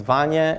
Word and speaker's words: Vanya: to our next speaker vanya with southwest airlines alternative anya thank you awesome thank you very much thank you everyone good afternoon my name is vanya and it rhymes with lasagna that means i've spoken